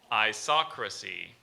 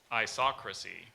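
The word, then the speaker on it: isocracy: um okay so now I'm still here okay I saw Chrissie definition equality of power or rule especially a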